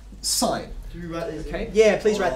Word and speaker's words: sin: for now side now we tend to um abbreviate that to without the e okay but we still pronounce it sign right it still comes